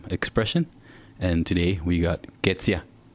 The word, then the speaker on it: Ketzia: And today we got Ketzia.